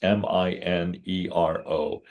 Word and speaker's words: Minero: And Lewis is spelled Luis, and it's Minero.